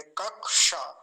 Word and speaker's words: कक्षा: और स्पष्ट हो जाएगा ऐसे इसका उच्चारण करेंगे कक्षा कक्ष तो जब मैंने कक्षा